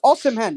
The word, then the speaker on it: Osimhen: No, it's Osimhen. It's not hard. You just got to read it. Osimhen.